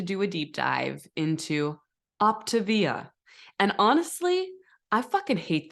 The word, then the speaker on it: Optavia: So it's Optavia, not Optavia.